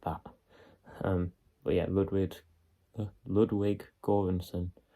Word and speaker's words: Göransson: But yeah, Ludwig Göransson, I believe it's pronounced, did lots of the score and the background music for this film.